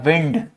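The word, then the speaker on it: wind: किसको ठीक है डब्ल्यू से एक होता है विंड विंड मतलब हवा और एक और शब्द होता है जो दिखता यही इसी के जैसा है बट जिसका प्रोनंसिएशन और मीनिंग अलग हो इसका मतलब होता है वाइंड ये है हवा और ये है वाइंड का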